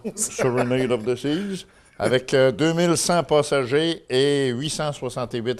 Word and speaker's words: Serenade of the Seas: of the Seas c'est comme ça qu'on le prononce Serenade of the Seas avec 2100 passagers et 868 rameurs donc un